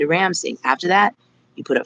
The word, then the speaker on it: Ramsingh: RAM as in Mary, SIN as in Nancy, GH, okay? It's pronounced Rhonda Ramsingh.